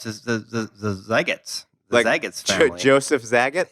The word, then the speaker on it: Zagat: We had an email sent in, and it said it rhymes with cat.